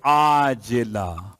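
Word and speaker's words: عاجلة: دے، ایسی نیند کہ عاجلہ، وہ جو آپ کہتے ہیں معجل اور معجل عین کے ساتھ، یہ عاجلہ عین سے ہے۔ ہو سکتا ہے میرے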